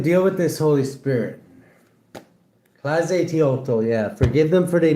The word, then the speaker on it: Tlazolteotl: Tlazolteotl, pronounced Tlazolteotl, is a Mesoamerican earth mother of the Aztecs and Huastic and indigenous Mexican people, a patroness of midwives.